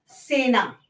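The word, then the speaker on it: cena: Next है हमारा सी ई। सी ई से कभी भी मिलके जब भी होता है से बनता है। उसका प्रोनाउंसिएशन साउंड जो निकल के आता है वो से का साउंड निकल के आता है। ओके? से का साउंड निकल के आता है। लाइक ए सेना।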